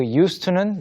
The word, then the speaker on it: used to: 첫 번째 그 used to는 이제 S 발음이 나고요. used to.